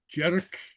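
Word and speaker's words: dearg: asked about uh jedik okay which is uh Jer okay uh which is red and it's pronounced J uh Jer J something like that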